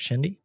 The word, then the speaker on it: Shendy: Well, did I pronounce that correct, Shendy?